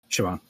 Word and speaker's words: Siobhan: how you say it Shaban uh like a V not a b sioban sioban yeah yeah right